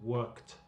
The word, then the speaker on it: worked: Aquí la pronunciación del ed es t. Entonces la pronunciación es worked.